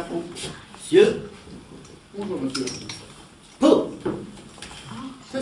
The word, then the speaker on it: Pau: Eh oui, Pau, avec un P. Alors Pau? Oui, comme ça s'écrit, pareil.